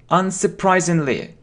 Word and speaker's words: unsurprisingly: Let's pronounce it correctly. How will you pronounce it? Unsurprisingly. It's not sir, it's surprisingly.